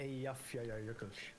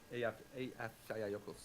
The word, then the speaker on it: Eyjafjallajökull: The Eyjafjallajökull. Eyjafjallajökull. Because the end is like Jökull.